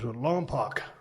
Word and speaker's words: Lompoc: No, I grew up in a small town called Lompoc, about an hour away from San Luis. I remember Obispo. Lompoc.